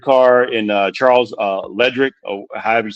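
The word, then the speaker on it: Leclerc: Uh Sunny takes out the third car and uh Charles uh Ledric or however you say this guy's name in the Abu Dhabi. Yeah. How you say it? L Clerk. L Clerk.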